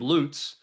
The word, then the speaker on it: Loots: does it matter if everybody's mispronouncing it and uh I feel like you know Jacob Loots uh who is a good ahead of all we called him Jacob Lutz for the first two weeks we knew him and then